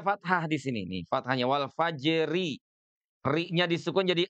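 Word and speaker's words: والفجر: Atau bisa juga antara ro sukun dengan fathah dan domahnya itu adalah huruf sukun pula. Contohnya ya, contohnya itu misalkan pada kalimat wal fajr ya, misalnya contohnya ada kalimat wal fajri atau wal asri ya. Nah, misalkan ada kalimat wal fajri nih di sini.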